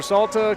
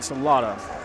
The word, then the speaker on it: Salata: And they are assisted by Dallin Bynum, Walter Salta, Chris Williams, Marcus Williams, and then the head coach is Wally Salata. Sorry, I must pronounce that Salata.